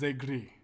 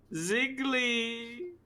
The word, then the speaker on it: Zegri: It is Zegri. Ziggly! No. Say agree. Zegri.